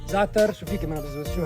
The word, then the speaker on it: za'atar: More za'atar. Say za'atar. Now, za'atar, you could say za'atar. Z-A. But there's a letter in Arabic called za'atar. It's hard to pronounce.